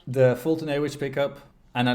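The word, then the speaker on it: Foltynewicz: I don't know how to pronounce his last. Somebody help. Fultonewicz. Thank you. Fultonewicz.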